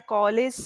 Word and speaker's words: college: So when you're saying that in my college days, I used to do so and so things, the Hmm. pronunciation of the j sound, College. college, right? And it's Now not call.